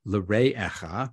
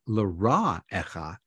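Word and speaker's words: לרעך: Instead of l're'echa, your neighbor, he says, say l'ra'echa, your evil, kamocha, as yourself.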